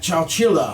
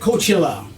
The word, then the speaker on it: Coachella: Apparently, last apparently last Saturday Tupac Shakure Rose again at Chailla. Is that how you say it? Coachella. Coachella. Coachella. Yeah.